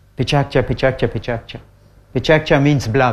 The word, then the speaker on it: PechaKucha: Did any one of you hear the word Pechakucha? Pechakucha is now in 520 cities in the world. It's pronounced Pechakcha. Pechakcha, Pechakcha, Pechakcha.